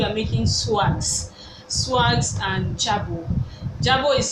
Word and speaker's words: jabot: so today we are making swags swags and Jabo Jabo is spelled j a b o t s plural